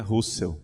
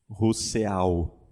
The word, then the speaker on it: Rousseau: Então, alguém pode achar que Rousseau se pronuncia Russell, né? Rousseau, né? Não é o mesmo.